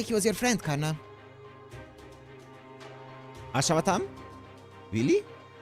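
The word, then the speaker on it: Ashwatthama: Kana Ashawatam. Really? It's Ashawatam. That's how it's pronounced.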